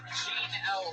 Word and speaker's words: Jeannel: If you're going by my enunciation of her first name, you will not find her on Twitter. So I'll spell that out for you. It's spelled like Jeanne. Jeannel Whitney. All one word. Jean with a silent N and E after it.